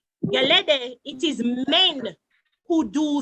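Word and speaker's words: Gẹlẹdẹ: Because just like in, I'll make sure I'm pronouncing it right, Geleday? Yes, correct. Geleday, it is men who do the dancing in Jonkono as well.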